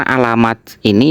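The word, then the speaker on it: علاماتٍ: Tapi kan yang di teks itu kan jamak muannas salim. Jamak muannas salim itu ketika i'rab nasab maka tandanya pakai kasroh. Nah, di sini kenapa i'rab nasab? Karena alamat ini menjadi isimnya inna. Sedangkan li ahli taqwa ini khobar yang didahulukan, khobar muqaddam. Sehingga bacanya mestinya Ustadz Haris fa inna li ahli taqwa alamatin.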